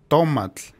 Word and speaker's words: tomatl: earned the name tomato, which the internet tells me is pronounced like this. Tomatl.